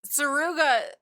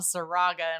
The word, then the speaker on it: Saruga: But like Saruga is how it's spelled and you say it, but in my mind, like since the age of 14 reading these books, I just call him Saraga in my mind.